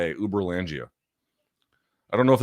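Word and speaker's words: Uberlândia: is a real place, Uber Langia in Brazil. Uber, like it's spelled like Uber. U A L D. Uber Langia.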